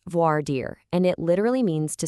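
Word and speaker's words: voir dire: It's pronounced voard deir, and it literally means to speak the truth.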